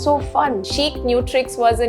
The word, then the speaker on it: Chicnutrix: uh but it's actually Chic nutrix which means your nutritions also got to be Chic right now why do